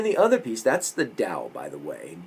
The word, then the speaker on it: Dao: hard and then the other piece that's the dao by the way dao t-a-o this is the book that we we